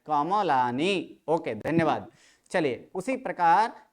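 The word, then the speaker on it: कमलानि: पर गलती कर ले कमलानी नहीं है कमलानी बोलेंगे तो फिर क्या होगा म को क्या करना पड़ेगा आधा आधा जबक यहां पर म क्या है म कैसे है संपूर्ण अत म के बाद अ का उच्चारण करना है कमलानी ओके धन्यवाद चलिए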